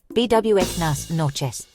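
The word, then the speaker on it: buenas noches: Pronunciation BWnas noes.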